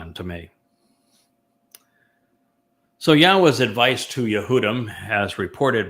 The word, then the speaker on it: Yahweh: Not only conveying it properly, but explaining it and then proving that this is the correct pronunciation of Yahweh.